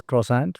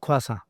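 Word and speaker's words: croissant: for the word but I used to call this crossant right but uh quasa quas quasa yeah that's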